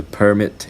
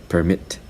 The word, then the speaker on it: permit: permanent permit and permit so permit is a noun permit is a verb this is very typical